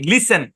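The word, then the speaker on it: listen: common একটা উদাহরণ আচ্ছা এই শব্দের উচ্চারণ কি লিসেন কি উচ্চারণ লিসেন টি সাইলেন্ট লিসেন লিসেন মানে কি লিসেন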